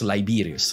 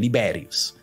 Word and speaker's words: Liberius: uh Odo aser uh famous liberus no liberus sorry if I let's use the Latin pronunciation liberius so liberius was a